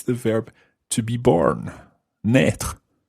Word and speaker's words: naître: Naître. Naître. It's spelled N-A-I circumflex T-R-E. Naître. Naître.